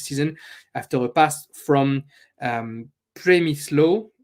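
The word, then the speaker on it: Przemysław: After a pass from Premislo, I'm going to have to ask my Polish friends how we pronounce his name. Premislo Frankowski, I'm comfortable with, but his first name sounds to be Premislo.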